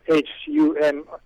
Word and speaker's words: Humair: His name is Daniel Humer, pronounced in French, Humair.